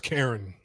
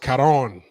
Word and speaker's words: Karon: Russian tourists found unalived in mysterious circumstances at Phuket's Karen Beach, which I know is probably not pronounced Karen. It's probably pronounced Karon, right? Karon Beach.